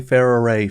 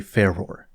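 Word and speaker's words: Farore: I am not calling Ferrare Ferror. In Japanese, they pronounce her name using 3 syllables, and if it's good enough for the Japanese, it's good enough for me.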